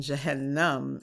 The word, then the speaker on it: Jahannam: hell, and is perhaps you can correct my pronunciation. Is it Jannah and Jahannam? Oh, Jannah. Jannah is paradise, is heaven. Jannah and Jahannam is hell.